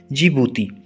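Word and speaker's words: Djibouti: और अफ्रीका की जो सबसे नीचे का जो एरिया है, यानी Africa lowest point is lake असाल इन जिबूती। इसमें डी साइलेंट है, इसको जिबूती पढ़ते हैं।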